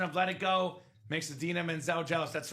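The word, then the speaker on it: Idina Menzel: Oh, is that who Adim Dazelle is? The wickedly talented Adim Dazelle. Do you remember that? When John Travolta said Adina Menzel's name wrong at the Oscars?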